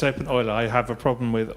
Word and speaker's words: openEuler: your name right but I pronounced the name open Euler wrong so I'm sorry it is open oil I have a problem